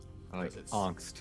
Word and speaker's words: angst: I like angst. That's good. Yeah, I like to pronounce it with the long A, because when it's really intense.